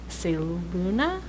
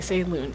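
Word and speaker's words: Selûne: the druids, and they're like citadel holdout of Seluna. Yeah. And that's how I pronounce it. Get the fuck over it. That's great, because I was gonna say Saloon anyway, so.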